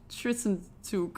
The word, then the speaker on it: Zwischenzug: So I Googled it, how to pronounce it, and it's like Tristanzug.